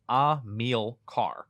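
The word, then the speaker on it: Amílcar: the pod it's pronounced a meal car yep like a meal yeah a meal car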